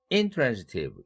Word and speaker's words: intransitive: intransitive라는 단어가 있는데 intransitive 이렇게 발음할 때가 있어요. 그것은 transitive와 대비할 때 그렇게 대강세를 옮겨 붙인다.